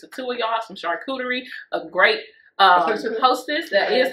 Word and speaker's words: charcuterie: where it's just the two of y'all, some charcuterie, a great hostess, that is how you say that.